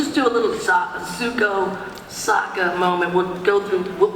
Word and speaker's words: Sokka: Hey, I'm Sokka. It's pronounced with an aka. Lady, I'll rock ya.